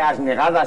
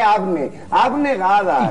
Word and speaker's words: abnegadas: No, Briones, no se dice asnegadas, se dice abnegadas.